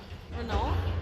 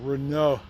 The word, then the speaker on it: Renault: Renault? Well, that's the American way. Yeah, Renault with a with your nasal passages working is how you say it correctly. Us Americans say Renault, and that's not correct.